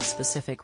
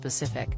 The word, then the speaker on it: specific: secretary Preeti Patel and the SP at the start of specific rather than rendering it Pacific also vital is